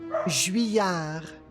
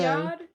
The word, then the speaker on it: Juilliard: The thing is, it's an American person with that name, right? Who gave an endowment to the school. So Juilliard? the French pronunciation is not necessarily correct.